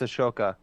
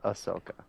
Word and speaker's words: Ahsoka: thron uh which is exciting because with the Ahsoka show coming out that's going to be a huge he's going to be a huge part no Ahsoka it's a shoka no it's not I will punch you so